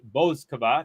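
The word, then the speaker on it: Bouzková: And so the French woman is out, and the Czech woman, Marie Bouzkova, thank you, Gary, for teaching me the correct pronunciation, has made it through to round number 4.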